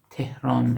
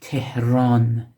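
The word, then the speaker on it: تهران: Tehran again, medial He do çeşm, Tehran, Tehran. So Te, He do çeşm, Re, Aleph, Nun, final separate Nun. The name of the capital of Iran, Tehran.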